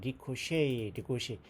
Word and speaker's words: ricochet: 그러니까 그 내셔널 갤러리로부터의 그러한 산탄 조각이 리코시 발음이 참 희한해. 불어 같아.